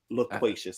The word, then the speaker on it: loquacious: Loquacious. I think it's loquacious. Yeah, I think it's LO, bro, not LA. Yeah, you said LA. Loquacious. That's what I said. Loquacious. But the way it's spelled is LO.